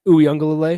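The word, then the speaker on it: Uiagalelei: Uyunglele. I had to break it down phonetically just to be able to get through my Saturday.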